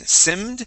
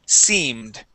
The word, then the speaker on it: seemed: And now the double E, in most cases in English, that double E makes a long E sound. So instead of saying simmed, it is seemed.